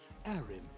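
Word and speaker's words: Harrim: in this transient world arim is at your service you really have to pronounce it like harem there's so many implications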